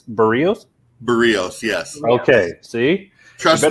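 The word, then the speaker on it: Berríos: Tell them how to properly pronounce his name. So, and I heard you. It's Berrios.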